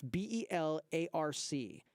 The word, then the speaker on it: Belarc: How do you spell that? It's B-E-L-A-R-C, BelArc, B-E-L-A-R-C, and it's a free download.